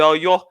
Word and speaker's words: Oyo: When he talked about the Oyo Empire, that was smashed because of the House of Fulani. How do you say it? Oyo? Yeah, Empire.